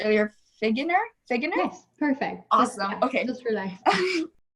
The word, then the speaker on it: Figgener: christine i heard your last name was produced earlier pronounced earlier figure nur ii is perfect awesome okay dr.